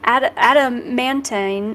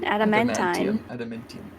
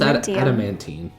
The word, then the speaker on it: adamantine: Adamantine. Adamantium. What's adamantine? Adamantine. Yeah, I was gonna say, it's not spelled like tium. There's no M at the end. There's no tium?